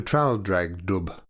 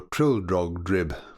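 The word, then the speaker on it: Traldragdubh: It contained a warrant for conducting me and my retinue to Traldragdub, or Trildrogdrib, for it is pronounced both ways as near as I can remember, by a party of 10 horse.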